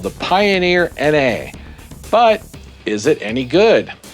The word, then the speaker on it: Na: Then I found out it was a sodium-ion battery, and Na then made sense as Na is sodium on the periodic table. So it's pronounced Na and not nah.